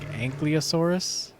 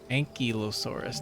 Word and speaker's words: ankylosaurus: amargasaurus acrocanthosaurus acrocanthosaurus uh when i was a kid i pronounced this as like ankylosaurus but it's an ankylosaurus not ang i thought the l was like before the y and kylosaurus ankylosaurus that's like isle kyle dinosaur attenborosaurus it's named for one